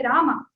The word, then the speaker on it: राम: हे राम माम पालय, ऐसा बोलते हैं ना, हे रामा, वो श्लोक आपने पढ़ा होगा तो ऐसा, हे रामा, जैसे हे रामः बोलेंगे वो गलत होगा।